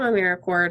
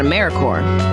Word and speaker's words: AmeriCorps: say or spell AmeriCorps sometimes people pronounce the P but don't make that same mistake lirik or is